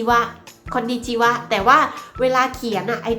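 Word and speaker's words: こんにちは: เนี่ย เรา จะ ไม่ อ่าน ออก เสียง ว่า ข้อ ดี จี ฮะ เลิก จะ ร้อง เป็น ไง นะ แต่ เรา จาก เรา เสีย ว่า ข้อ ดี จิ วะ คอลดี จิ วะ แต่ ว่า เวลา เขียน ไอ้ ตัว ว่า ที่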